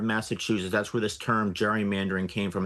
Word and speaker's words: gerrymandering: That's where this term gerrymandering came from. How they got from the hard G to the soft G, nobody really knows.